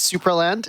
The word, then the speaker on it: Supraland: It is Supraland. It's a German game, and you nailed the pronunciation.